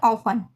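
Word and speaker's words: often: और सेम इसके एसए ऑफन ऑफन यानी एफ और इ एन के बीच टी आया है तो टी का उच्चारण नहीं होगा टी साइलेंट हो गया इसको क्या बोलेंगे ऑफन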